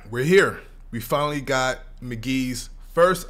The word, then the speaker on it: Mk.gee: here we finally got McGee's first album pronounced McGee now McGee has you